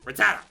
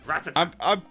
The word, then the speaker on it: Rattata: It does not say Rattata. It says Rattata.